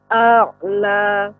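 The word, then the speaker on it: أعلى: Ya, la-nya agak lebih sedikit panjang. A'la. Sabbihisma rabbikal a'la. A'la. Juga tidak terlalu pendek, Ibu. A'la. Ini terlalu pendek. A'la. Ya. Sabbihisma rabbikal a'la. Ya. A'la. Alladzi Ibu, ya. Jangan takut untuk memanjangkannya, tetap dibaca saja, ditekan a'la.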